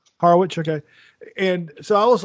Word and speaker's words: Harwich: It's Harwich, or do you say Harwick? How do you say it, Kevin? No, you get it. You get it right on the first try. Harwich, okay.